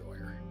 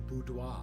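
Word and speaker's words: boudoir: The beder are tempting for the three keys, but we're going to go with the beder. Yes, I am intentionally mispronouncing that just it is the budois.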